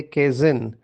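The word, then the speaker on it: Kaizen: एक मैनेजमेंट बहुत फेमस हुई जिसका नाम है केजन अभी केजन या केजन जैसे आप उसको प्रोनाउंस करो उसका उच्चार करो के ए आई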